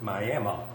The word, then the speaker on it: Miami: Now, they pronounce it Miami, but it's spelled like Miami, Oklahoma.